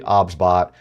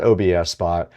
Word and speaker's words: OBSBOT: The pronunciation of the product is actually OBSBot. It is not OBSBot.